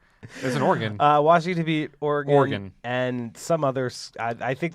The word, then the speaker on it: Oregon: Because when I say Oregon, I think organ, like at a church.